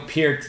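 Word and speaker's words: Peart: Pier the other day I've been calling him Neil per my entire life and you've been wrong okay cuz I've heard him say it's like ear okay it's spelled the same way it's p and they say it that way on video it's just that people got lazy okay and called them per and and you know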